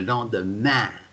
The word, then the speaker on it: lendemain: What's the pronunciation? ah, Ah, bravo. Le lendemain.